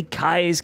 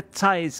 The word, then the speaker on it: Cai's: are people who say kai's kitchen turns out it's more like a t sound it isn't quite i know it isn't quite but it sort of sounds more like a thai's kitchen and that's how